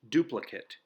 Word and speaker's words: duplicate: to a locksmith can duplicate almost any key the adjective form is pronounced differently it's pronounced duplicate it means exactly like